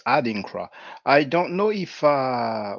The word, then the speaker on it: Adinkra: name wrong upon this it's not odin christ adinkra i don't know if